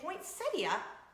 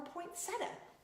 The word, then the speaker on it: poinsettia: wanna type it out do you guys say point cydia or points in it I say points idiot apparently both are correct not according to my